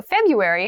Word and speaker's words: February: january february february february so february has an interesting spelling that first r isn't really pronounced february is the shortest